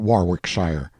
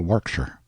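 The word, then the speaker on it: Warwickshire: Berkeley of Chalundy Castle, Warwickshshire. Pronounced Cubri Flanover Marshbanks sellers Viccount Barkley of Chumley Castle, Warkshire.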